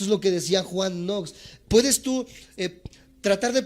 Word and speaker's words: Knox: primero de estos grandes hombres se llama Juan nox se escribe K n o x kn n o